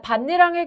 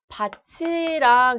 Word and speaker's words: 밭이랑: 자, 반니랑의 경우에 지금 티읕 뒤에 이가 이어져 있기 때문에 얘를 밭이랑 이렇게 발음해야 한다고 오해할 수 있습니다. 근데 얘는 아니에요. 반니랑이 맞는데요. 자, 지금 이랑 같은 경우에 형식 형태소가 아니라 실질 형태소죠. 구개음화는 형식 형태소 이가 이어졌을 때 일어나는 거고요.